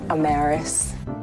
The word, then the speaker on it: Amaris: danielle i'm maris owens yes it is pronounced amaris don't ask my parents though they kind of still argue about how to pronounce my name anywho listening to you